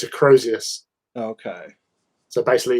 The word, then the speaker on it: Crozius: Oh, It's a Crozius.